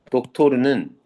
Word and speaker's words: 독토르: 독토르는 닥터를 닥터를 러시아 발음으로 발음한 겁니다.